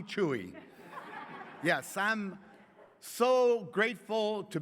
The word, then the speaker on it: Chuy: morning i am chewie my real name is spelled but nobody wants to call me that so they call me chewie yes i'm so grateful